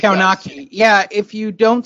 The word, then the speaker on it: Kownacki: And he went back to the Kownacki butchering, which was phenomenal.